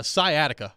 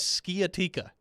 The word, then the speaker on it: sciatica: the answer already uh sciatica was the word that joe rexrode mispronounced famously as skiatika skeyatika pronounced by joe rexrode yep never living that